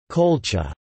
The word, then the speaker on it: Qulḫa: The name Colchis is thought to have derived from the Urartian Kula, pronounced as Colcha.